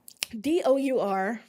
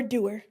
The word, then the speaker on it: dour: Well, D-O-U-R. From Google is telling me it is pronounced dour and not dour, which is kind of, I don't know if I like that.